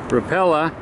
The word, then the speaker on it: Rapala: The other one is a Rapala. How do you say that, Andy? Rapala.